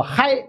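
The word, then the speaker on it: hai: 二越南语呢念作嗨啊，南字左边是台，右边是二。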